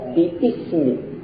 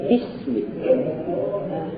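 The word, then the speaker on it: بسم: lagi hamzahnya langsung Bismi kita tidak baca biismi iya bukan biismi tapi Bismi cara baca ini yang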